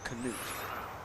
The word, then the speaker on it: Canute: So the canute would be the K would be pronounced but then I I think that's an